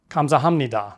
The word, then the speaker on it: 감사합니다: Compare the two: 감사합니다 (gamsahapnida) 감사함니다 (gamsahamnida) The second flows a bit more smoothly. Additionally, in natural speech, Koreans will often say the word fast. So, you might hear 감삼니다 (gamsamnida) instead of 감사합니다 (gamsahamnida).